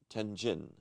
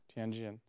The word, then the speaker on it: Tianjin: water on the ocean so what's remarkable about tenjin pronounce it right tianjin yeah tianjin is a very famous old city